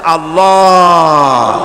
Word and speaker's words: আল্লাহ: আল্লাহ পাকের উচ্চারণটা হচ্ছে আল্লাহ পাকের নাম হচ্ছে আল্লাহ মুখটা একটু গোল হয়ে যাবে বলেন আল্লাহ আল্লাহ পৃথিবীতে বিভিন্ন জাতি